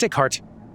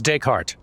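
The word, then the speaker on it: Descartes: Is that Deart? I should know how to pronounce that name. Hang on. Okay, it is Decart. My bad. Well, actual French speakers would pronounce it even more correct. But for this English speaker, take heart is more or less close enough and more accurate than the first thing I said.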